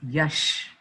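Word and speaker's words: Yash: यस इट इ नॉट यस इट इ यश एस एच अब समझ में आया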